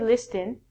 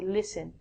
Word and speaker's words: listen: We don't say listen. We say listen.